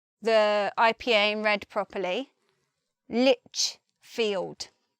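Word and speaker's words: Lichfield: IPA and read properly Lich field there's no it's not lipped there's no T there by itself it's Litchfield moving on to Paul suffix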